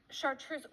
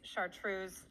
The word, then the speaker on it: chartreuse: Chartreuse. Well, I believe that chartreuse is actually French. Oh. So I think the literal translation is chartreuse in English, but in French it's chartreuse.